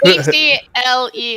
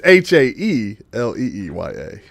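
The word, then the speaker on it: Haelia: It's Helenia. Helen. Harriet. Alan. Harriet? Helenia. It's Haeleeya.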